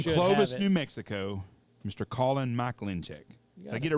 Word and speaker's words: Mikulencak: giver from clovis new mexico mr colin mike lynch yeah i get it right you got it yes sir you did not sounded good it doesn't it's not spelled anything like how it's pronounced that is not a name from uh sweden